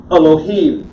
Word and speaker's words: Elohim: bara bara sheet bara Elohim this is a hard word the emphasis is on the last syllable Elohim I've heard of